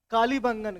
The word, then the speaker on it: कालीबंगा: कालीबंगन का। किसका? कालीबंगा। कालीबंगन या कालीबंगा दोनों प्रोनाउंसिएशन इसका होता है, ठीक है।